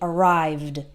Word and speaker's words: arrived: with with words with verbs that end in a voiced sound like arrived the IDI sounds like just D so V is a voiced sound hmm there's I'm using my vocal cords to make this sound and we the IDI sounds like D arrived arrived but we don't